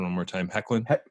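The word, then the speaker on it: Hoechlin: What I was not prepared for was Tyler, give me the pronunciation one more time. Hecklin? Hecklin.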